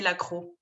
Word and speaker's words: La Croix: This is how you say that in the US, guys, La Croix. We say La Croix.